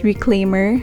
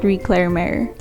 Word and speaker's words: reclamare: It's Reclaimer, not Reclamare.